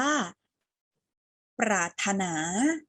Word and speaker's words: ปรารถนา: อ่าน ว่า ปรารถนา ปรารถนา เห็น ร เรือ ที่ ทำ สี ตรง กลาง ไหม คะ อ่า รอ เรือ ตรง นี้ เรา ปิด ไว้ ไม่ ออก เสียง ออก เสียง ที่ ตัว สะกด ฐ ถุง เลย นะ คะ ควบ กล้ำ แค่ รอ เรือ ที่ อยู่ กับ ป ปลา นะ คะ อ่าน เป็น ปรารถนา นัก เรียน รู้ อยู่